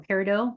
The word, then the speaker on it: peridot: You can start working with the crystals or the gems of onyx, amber, garnet, yellow topaz, tiger's eye, citrine, and peridot, or peridot, to pronounce it.